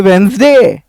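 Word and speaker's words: Wednesday: है यहां पे वेडनेसडे यहां पय डी साइलेंट है ये वेनसडे ये जो घोष है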